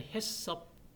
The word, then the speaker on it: HACCP: analis critical 컨트롤 포트 자 옛날에 해섭 hccp 섭이라고 짧게 발음을 할 수 있어요 근데 우리나라 말로서 표현을